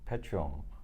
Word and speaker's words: Petuum: So the founders took Petuum from Perpetuum. There we go. So that's how you can pronounce the company name, and that's how the company name came about.